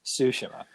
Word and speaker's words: Tsushima: say that right because everything in me wants to say is tsushima but apparently i'm going to say it wrong forever you like to say ghost of shashimi yeah it's ghost of sashimi but it is ghost of tsushima number six crash bandicoot